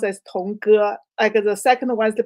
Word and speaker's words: Tong Ge: My name um pronounced as Tongu.